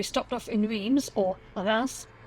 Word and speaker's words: Reims: So we stopped off in Reims, or Reims, pronounced correctly, on the way there and on the